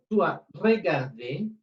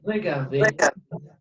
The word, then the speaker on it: regardé: Et faire attention, pongamos atención, parce que cuando nous avons una vocal o la E al final y está acentuada, en la pronunciación sí se dice, ¿sí? Normalmente, cuando termina una palabra en E y no está acentuada, no se pronuncia. En este caso, a pesar de que termina en E, el acento le da la pronunciación, ¿sí?